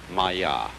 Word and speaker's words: Maya: Pronounced Maya.